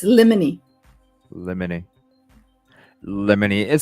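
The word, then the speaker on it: limine: and resetting hearing it's funny because some people pronounce it lemine well that's how it's spelled too I know it's lemony lemony lemony it s that sounds like a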